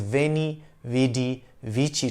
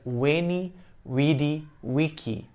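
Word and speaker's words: veni, vidi, vici: usually pronounce it as veni vd vichy today caesar himself might have said it as wayney weedy wiki based on what scholars can tell about the latin pronunciation of that time indians would be able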